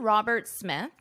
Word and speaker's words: Robert Smith: Robert Smith notice this his name ends in an S Roberts but the second part of his last name starts in an S so in this case you only pronounce One S Robert Smith Robert Smith